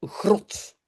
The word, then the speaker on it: grot: Alors, encore deux, grot. Une grotte, hein, c'est une grotte, hein, grotte. J'entends le O, j'entends pas O, j'entends O. Donc, c'est une syllabe courte.